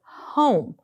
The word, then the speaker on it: home: Like here's my word, home. E is going to make the O say O. Home, that's my consonant, vowel, consonant, silent E pattern, right?